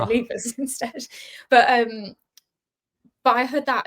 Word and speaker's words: Leivars: So I say Leivars, but some people say Leivars. Okay, which is fine. That works too, but it sounds too posh for me, so I always say Leivars instead.